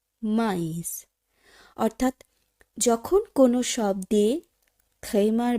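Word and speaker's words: maïs: Noel, মাইস। বন্ধুরা খুব ভালোভাবে লক্ষ্য করুন, এই ক্ষেত্রে যে বর্ণটির সঙ্গে থ্রেমা চিহ্নটি আছে সেখানে যেন আমরা কোথাও একটু জোরপূর্বক উচ্চারণ করছি, বা বলতে পারেন ওই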